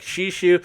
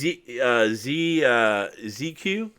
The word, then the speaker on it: Shishu: Okay, I've watched the cast and it was pronounced I call him Shiku. He was pronounced ZQ, and then he apparently Casanova asked him how to pronounce it, and he said Shishu. That's how he said it, and he said it in chat like that, like Shishu.